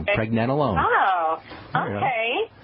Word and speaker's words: pregnenolone: It's only got 3 or 4 parts. Pregnant, right. Nen, rhymes with Ben, nen, pregnen, alone, like you're all alone. Okay. Pregnenolone.